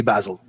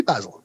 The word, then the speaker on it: Basil: origins of that family it would actually be basil because they were they were all the english origin so you know what it would be basil that would be i guess the original pronunciation but of course you